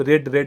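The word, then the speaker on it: read: तो सेकंड और थर्ड को हम रेड पढ़ते हैं, रीड को रेड में हम पढ़ते हैं, प्रोनाउंस करते हैं, ठीक है।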